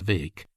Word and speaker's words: Bheg: Further, it was rumored that there was a chance of them getting for goal Farquhar McRae, Little Farquhar, or Farquhar Vake, Bheg, pronounced Vake, as he was euphoniously